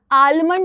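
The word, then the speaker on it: almond: फिर बढ़ते हो काम साम psalm of life P एस ए एल एम साम आलमंड very good आलमंड आलमंड करते हैं लोग बट इट्स not right it's आलमंड लेकिन आपको याद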